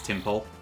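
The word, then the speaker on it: Tympole: Okay, yeah, it is Timpole.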